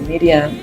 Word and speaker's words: Miriam: Cuando usted lee el pasaje, vemos cómo Marta y María, o Miriam, que es el nombre en hebreo, María se pronuncia o se dice Miriam, enviaron un mensaje al